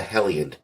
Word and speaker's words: Heliand: A great example of that is the Hellion. That's spelled Heliand.